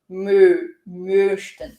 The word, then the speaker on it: möchten: todinho só sobre pronúncia, a gente pronuncia esse umlaut aqui, o com trema, fazendo boca de O, som de E. Então a gente fala möchten. O, só o O e depois o E. Então, möchten. A gente também trabalhou esse CH aqui.